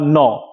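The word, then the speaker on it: knee: তার উচ্চারণটা শুধু হবে এন বা নন। মানে কে এর উচ্চারণ হবে না এখানে। কে অনুচ্চারিত থাকবে।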